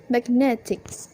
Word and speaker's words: magnetic: is attached the magnetic the stress moves from mac to net so it becomes magnetic how suffix affects trace